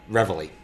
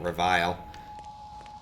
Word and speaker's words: reveille: tap all right uh Reveille as I was corrected on the pronunciation earlier which I should have known I do remember that it's called Revelation just completely brain farted when I called it revile so it's really weird